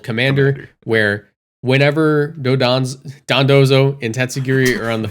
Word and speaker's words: Dondozo: we should explain what Dodonzo is. Yes, please. Or Dondozo. because Sorry, Dondozo. It's Michael dude. said it wrong.